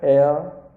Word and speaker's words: heir: For example, an hour, an honor, an heir, an honest. In all these words, the first letters h are silent, so an is used before them.